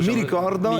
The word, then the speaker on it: Mi Ricordo: Prononce-le comme il faut. Mi Ricordo.